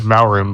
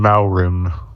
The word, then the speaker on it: Muarim: I always called him Maurim. But isn't it But M-U-A? Yeah, you're right. Okay. In my head, whenever I read it, I always say Maurim.